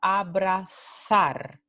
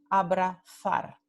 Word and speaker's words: abrazar: En el norte y el centro de España, esta palabra se pronuncia abrazar, th.